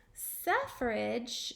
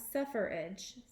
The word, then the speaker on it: suffrage: on woman suffrage now this isn't suffer like to suffer in pain or to be in agony suffrage meaning the right to vote and it's spelled like this suffrage not suffer edge suffrage so women's suffrage